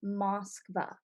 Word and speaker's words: Moskva: And the actual name of the city in Russia is Moskva. And when the city was founded in 1147, it was actually called Moscow, and which sounded closer to the present day English pronunciation Moscow that we say today.